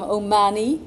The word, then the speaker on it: O'Mahony: to my father's hometown, the only place where the surname loses its syllable. I'm O'Mahony here, and I know that.